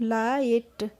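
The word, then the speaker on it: light: पढ़ेंगे एल आई जी एसटी को पढ़ेंगे हम लाइट बहुत ही इजी रूल है इसका आइट है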